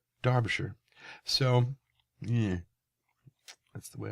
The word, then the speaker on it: Derbyshire: he got into the the pronunciations of of Derbyshire which is where he's from Derbyshire which I have always heard pronounced darbishire so yeah that's the way I learned it